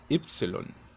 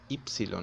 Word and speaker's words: Ypsilon: que significa óxido óxido la letra y se deletrea ypsilon si se fija en esa y del principio se pone sea diferente estoy diciendo ypsilon no estoy diciendo ypsilon es más o menos como si fuese una u por ejemplo la palabra